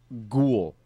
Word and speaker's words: ghoul: And tangent, remind me, ghoul. Ghoul. Tangent. And then the ghoul thing, because... How do you spell ghoul? G-H-O-U-L, just like it sounds. An H. The H is silent.